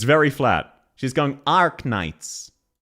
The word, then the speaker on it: Arknights: We don't say the vowel R. We never say the vowel R. So, this is one you can hopefully hear yourself. She pronounces the letter R correctly when she says Ark Knights.